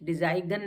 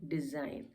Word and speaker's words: design: फिर डिजाइन, DESIGN, फिर हमारा एन से पहले जी है तो हम इसको डिजाइन, डिजाइगन नहीं पढ़ते हैं, डिजाइन। तो एन से पहले अगर जी आता है ऑलमोस्ट तो वो साइलेंट होता है, ये भी आपको याद हो गया।